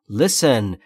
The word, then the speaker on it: listen: Listen. گوش کن. تلفظ درست رو دقت کنید بچه ها. لیسن نیست. لیسن. ایش بین ای و ا.